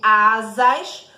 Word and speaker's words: asas: Já quando eu pronuncio asas, o primeiro S aqui, ele vai trocar o som do S, vai ficar com o som de Z. Por quê? Porque ele está entre vogais.